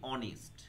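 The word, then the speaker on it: honest: যদি আমি বলি অনেস্ট, অনেস্টের উচ্চারণ কিন্তু অ আসছে, তার মানে ভাওয়েল, তার মানে এখানে করব অ্যান অনেস্ট হলো।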